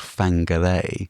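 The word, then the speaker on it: Whangārei: to a place called Fangare. So if you're in New Zealand and you ever see a place name that starts with a wh it's usually pronounced with an F.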